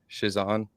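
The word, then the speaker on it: Chiasson: Shizan.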